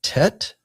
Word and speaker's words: Tet: Then next letter is Tet and that's pronounced like the English letter T as in toy.